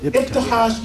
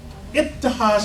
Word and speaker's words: Ibtihaj: Imam Jane, tell me how to pronounce her first name again. Ibtihaj Mohammed. Ibtihaj Mohammed.